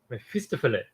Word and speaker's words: Mephistopheles: So So how do you pronounce that? Mephistopheles. Mephistopheles.